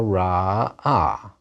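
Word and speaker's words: ראה: the Lamed He verb, that's not a real consonant. It's not pronounced. So that last syllable is open now, and that vowel is a kamatz too. A long ah. He saw ra-ah.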